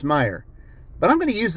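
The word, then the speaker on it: Meijer: it for me and he spelled it you know the way that Meyer spells the name and I told him I said it's Meyer and he goes oh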